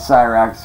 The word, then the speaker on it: Cyraxx: Dude, no, my real name's actually, but everybody knows me on here as Cyraxx, because that's the name that I got known by. And yes, it's spelled exactly like it sounds.